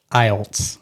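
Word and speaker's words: Eilts: say your last name my last name is pronounced IELTS how do you spell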